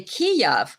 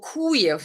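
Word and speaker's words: Kyiv: Kiev but now now you can't say Kiev because oh that's Russian pronunciation you have to say kuyu or kuyif like some people actually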